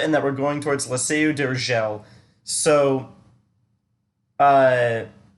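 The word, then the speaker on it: La Seu d'Urgell: So uh, that double L, normally in Spanish it's like a ya, but because of where it was like positioned in the word, I knew that it was like probably Catalan instead, where it's more like a ya instead of a ya.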